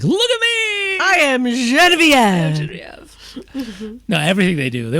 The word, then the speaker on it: Genevieve: It's not even Genevieve. Genevieve. Well, that's how you say it in French.